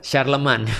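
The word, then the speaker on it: Charlemagne: Oh, nanti yang di sebelah barat akan bersatu lagi di bawah Kaisar Sharleman. Charlemne tulisannya. Oh, Charlemne bacanya apa? Iya, Sharleman.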